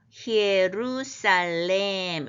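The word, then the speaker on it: Ἱερουσαλήμ: 그런데 이제 결국 그러면 이제 예루살렘과 또한 이렇게 이제 해석하면 되겠는데 예루살렘이라는 단어가 본문에 쓰인 거는 여성명사로서 히에루살렘 이렇게 되는 것으로서 우리가 예루살렘 하는 발음과 가장 비슷한 발음이에요.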